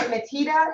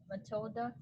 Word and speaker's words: Matilda: And is it Matita? Is that how you say it? How do you say your sister's name? Matilda. Matilda. Okay, the L wasn't there.